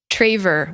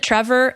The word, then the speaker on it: Traver: name being so unique people are like traver wait how do i spell that or wait isn't it trevor or oh the your